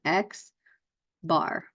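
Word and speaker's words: x̄: it is how it's what it looks like X bar we're going to say these a lot we're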